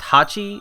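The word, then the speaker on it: 八: in japanese pachi uh like eight is pronounced hachi and pachi which looks just like hachi is the sound of clapping so in japan when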